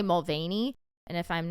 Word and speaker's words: Mulvaney: It's Dylan, I want to say Mulvaney. And if I'm not pronouncing that correctly, let me know in the comments.